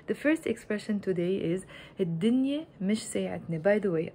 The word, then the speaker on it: الدنيا: pronounced alif lam il, whenever the word starts with a sun letter, I don't pronounce the lam of the il. I just say الدنيا instead of الدنيا. I do write both the alif and the lam الدنيا, but we pronounce it الدنيا.